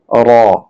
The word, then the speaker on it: র: এরপরের অক্ষরটি হলো র। এই র উচ্চারণ করতে হবে জিহ্বার আগার কিনারার পিঠ উপরে তালুর সঙ্গে লাগাতে হবে।